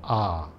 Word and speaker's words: A: Buddha are expressed in the letter A, which is pronounced R.